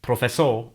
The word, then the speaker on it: professor: One other thing I want to point out here is that the letter R is silent in the final position in Catalan, so this word, professor, ends in a vowel sound.